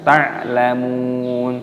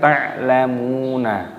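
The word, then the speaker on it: تَعْلَمُونَ: Jadi cara membacanya dibaca ta'lamun, bukan ta'lamuna.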